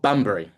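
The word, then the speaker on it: Bunbury: Uh bund how do you pronounce I don't want to say it wrong. What's the town? Uh we're called Bumbrey.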